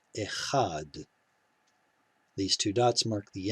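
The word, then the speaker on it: אֶחָד: het and hay so here we do actually have a closed syllable and a closed syllable had because this long kamatsu is in a closed syllable it must get the accent echad these two dots mark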